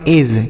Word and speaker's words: edge: आगे लिखा है EDGE, तो इसे हम पढ़ेंगे एज। क्या पढ़ेंगे? एज पढ़ेंगे, ठीक है। EDGE एज। यहाँ पर जो डी लिखा है यह साइलेंट है, मतलब इसको नहीं पढ़ा जाएगा।